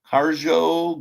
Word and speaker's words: Harj: England, Harjo. Harj is how that's pronounced.